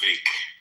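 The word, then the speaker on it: Vivek: Uh he said if you want to pronounce his name properly, just remember cake. So it's Vake.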